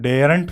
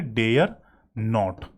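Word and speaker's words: daren't: और इसको डेयरंट पढ़ने की जरूरत नहीं है, आप क्या पढ़ोगे, डेयर नॉट।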